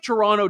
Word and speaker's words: Toronto: the Amer I did I did the Toronto I you're supposed to say toron I I I never pronounced the second te I apologize to the